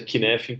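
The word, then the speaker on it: Cynefin: Que a pronúncia é Kinefin por causa do Y aqui, mas é um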